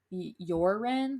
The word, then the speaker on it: Joran: young man named his it's spelt joran but i heard it pronounce your wren like with a y because he's okay um